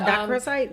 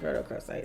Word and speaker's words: rhodochrosite: But dacrosite? No, it's rhodochrosite.